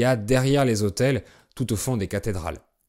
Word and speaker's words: autel: Le chœur est la partie de l'église où il y a les autels et les reliques. Un autel, c'est un mot qui a la même prononciation qu'un autel avec des chambres pour dormir, mais là je parle